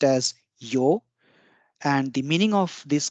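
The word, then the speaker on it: 曜: First is this kanji, which is pronounced as yo, and the meaning of this kanji is sunshine or something glorious like the sunlight, the daylight, the shine, or the weekday.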